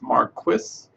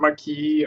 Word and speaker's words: Marquis: you're curious to pronounce Marquis it's a uh Dr Marquis uh think about like the name Mark wh you know so uh it's not Marquee or Marcus or something like that uh so just to